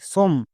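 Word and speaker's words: some: এস ও এমই সম একে অনেকে সম উচ্চারণ করছো। বাট সমম উচ্চারণ হবে না। এর উচ্চারণ হবে সাম। কেন হবে?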